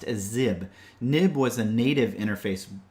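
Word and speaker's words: xib: And you'll sometimes hear this referred to as a nib file as well, but that's not technically accurate. It is pronounced as zib.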